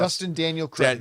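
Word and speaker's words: Destin Daniel Cretton: You know, I was How do you pronounce Dustin Daniel Cretton.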